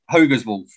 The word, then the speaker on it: HogersWolf: performing under the name and check my pronunciation on this hogan's wolf or is it hoggersworld hogan's wolf hogan's wolf my surname is hogger yeah but uh i perform under hoga's wolf just because it's it's